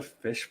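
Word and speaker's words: Phish: It's actually the Fish Bar. That's fish as in the band with the PH.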